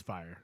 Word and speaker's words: Fyre: Fyre Fry Festival. Fry Festival. I wasn't sure how to pronounce it too. It's at Fyre. first. It's Fyre. Yeah. Yeah. It's just gangster for fire.